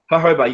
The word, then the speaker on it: jojoba: to carry in the roll on bottles uh hoba is quite good to be honest it's one of hoba yeah definitely it's spell it's spelled jojoba but hob pronunciation um hoba